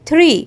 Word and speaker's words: tree: زي الشاخ خفيفة كده فبقول tree يعني مش بننطقها tree لا tree.